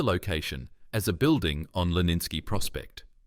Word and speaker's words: Leninsky Prospekt: He described the location as a building on Leninsky Prospect, pronounced Leninsky Prospekt, on the 3rd floor.